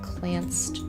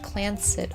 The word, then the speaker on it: Clanced: He plans to do this with the Clanced Trust. We've seen that before, actually. The Clanced, pronounced Clancid, Clancid Trust is a highly unusual